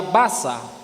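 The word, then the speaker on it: בזה: La palabra que se usa en la Biblia, cuando leímos para menospreciar, en hebreo se pronuncia basa y significa tenerlo como cosa no importante.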